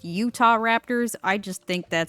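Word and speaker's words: Utahraptor: the uter Raptors and I know that it's pronounced Utah Raptors I just think that sounds stupid so I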